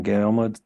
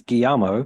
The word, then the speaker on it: Guillermo: It's Guillermo. For some reason, my brain just kind of went into default of just reading how it's written. Guillermo del Toro's Mark Gustafson